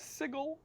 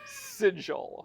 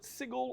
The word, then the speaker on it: Sigil: refer to it as sigle right but that being said there is another English word that is spelled the same way that is pronounced sigil right whether you want to call it sigle or sigil your table